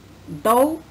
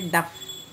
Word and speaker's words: dough: Dough is different. We cannot say duff.